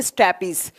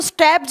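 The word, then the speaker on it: stapes: सबसे पहले का लिखेंगे स्टैपीज, इसको स्टैब्स भी बोला जाता है, कभी कभी ना इसको प्रोनाउंस करते हैं ना स्टैपीज या स्टैब्स भी बोलते हैं, ठीक है।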